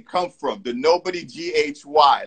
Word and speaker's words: Nobodyghy: a lot because one a lot of people mispronounce it wrong they go you know nobody guy or something like that right so i've learned